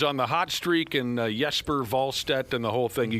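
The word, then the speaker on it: Jesper Wallstedt: Yesper Volstead. You notice that I've changed my pronunciation.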